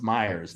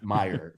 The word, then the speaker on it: Myers: and was like hey it's pronounced Myers not Meyer so so yeah and